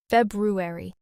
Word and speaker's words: February: So, learners and even native speakers just simplify it and remove one. But the correct form keeps both.